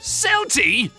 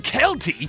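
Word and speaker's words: Celty: to welcome to YouTube selty the sea in Kelty is pronounced like a k not an S Source I'm Irish when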